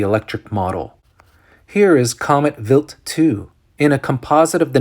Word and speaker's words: Wild 2: NASA's Stardust probe to Comet wild 2 pronounced vilt 2 startled investigators with the best